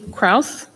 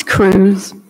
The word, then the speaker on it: Cruz: last name as well kraus cruz i'm sorry chris pardon me it's cruz it's okay hello my